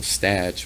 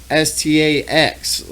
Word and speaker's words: Stach: And when I was a little kid, it's spelled Stach because it's German. So when I was in school, they would always be like, Statch. the teacher could never pronounce my name. And my homie was like, it stacks, just Stax. He told her, you know how you abbreviate Christmas with an X?